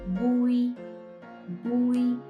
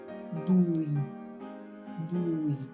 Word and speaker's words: Bùi: Together, we have Bùi, Bùi. Now adding the low falling tone, Bùi, Bùi.